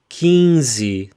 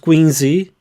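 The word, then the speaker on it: quinze: be careful Qi though it's key kiny not Queeny but kiny let's carry on repeat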